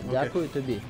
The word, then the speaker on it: Дякую тобі: So it's almost one word. Дякую. No, it's two words. Дякую. Oh, it is two words. Yeah. Дякую тобі.